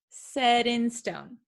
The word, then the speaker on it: set in stone: quite tricky so sometimes it is something called a flap t it sounds like a soft d sound so said d d said in stone set in stone set in stone set